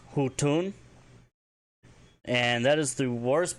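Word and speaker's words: huttuun: There will be a hutun. And that is spelled H-U-T, Beton, U-U-N.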